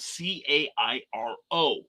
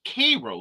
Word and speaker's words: Cairo: uh there is our southernmost town in illinois is spelled c-a-i-r-o now the world pronounces it cairo they pronounce it k row like the sweet k rose syrup and they